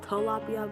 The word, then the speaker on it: Tilapia: I look it up and it's pronounced Tilapia, but I like to say Tilapia, especially since her nickname is Tilly, so Tilapia.